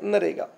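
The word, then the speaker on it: MNREGA: ये मनरेगा को दोस्तों नरेगा कहते हैं। क्या कहते हैं? नरेगा। यम इसमें साइलेंट होता है, यम NREGA। मनरेगा को दोस्तों क्या कहते हैं? नरेगा।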